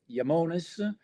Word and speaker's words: Iamones: So today I'll take you through what we do at Yamones. That's the pronunciation of the company, and I'll explain you the roots.